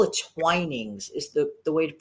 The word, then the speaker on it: Twinings: I think they call it Twinings is the way to Yeah. pronounce it. Look, right, Twinings.